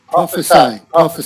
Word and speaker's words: prophesy: Prophesy. So that Y is like an I.